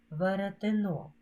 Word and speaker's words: веретено: знайдіть іменник середнього роду веретино воно наголос падає на третій склад прочитаємо уривок казки виправляючі